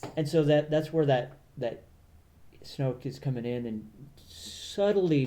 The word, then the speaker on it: Snoke: Snoke. Snoke, yeah.